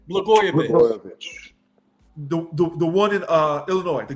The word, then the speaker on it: Blagojevich: Blanovich? How do you say his last name? Blagojevich.